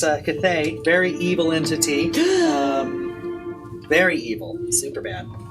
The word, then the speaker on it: Cthaeh: yeah, well, it's a Cthaeh, very evil entity.